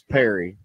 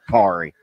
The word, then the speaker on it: Perry: He goes, it's Perry, like rhymes with like a fairy. You know, it's not Pari.